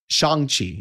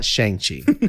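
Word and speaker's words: Shang-Chi: because it was a little weird so um shang chi is pronounced i found out it's not shangchi it's shangchi so shang chi is is coming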